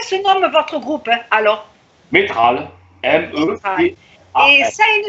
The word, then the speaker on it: Métral: On dit Meutral, c'est ça? Métral, comment ça se prononce? Ah, Métral. Moi Métral, je disais Meutral.